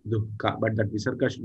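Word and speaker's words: duḥkha: Dukkha, the pronunciation itself is dukkha. The word, the swarupa of the word itself is dukkha. We have to pronounce along with the visarga actually, dukkha.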